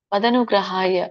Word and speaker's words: ಮದನುಗ್ರಹಾಯ: ಅರ್ಜುನ ವಾಚ ಮದನುಗ್ರಹಾಯ ಪರಮಂ ಮದನುಗ್ರಹಾಯ ಬಿಡಿಸಿದಾಗ ಮತ್ ಅನುಗ್ರಹಾಯ ಅಂತ ಆಗುತ್ತೆ ಸೋ ಕೂಡಿದಾಗ ಮದನುಗ್ರಹಾಯ ಅಂತ ಆಗುತ್ತೆ ಮತ್ ಅನುಗ್ರಹಾಯ ಮದನುಗ್ರಹಾಯ ಪರಮಂ